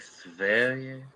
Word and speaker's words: Sverige: That's kind of disrespectful because it's I prefer the pronunciation to stay in Belgique. Now that we know how to say Sverige, I'm like, Sverige.